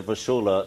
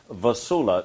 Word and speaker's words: Vassula: step for us and as i said to vasula the first time i had met her i